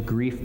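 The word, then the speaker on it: Greif: to grief Brothers It's company in Chicago Illinois I believe that's pronounced gri Brothers gri Brothers uh at 10 9: a.m.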